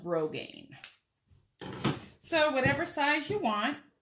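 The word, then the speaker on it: grosgrain: it's gr o s gr AI and it's pronounced Rogaine so whatever size you want honestly the easiest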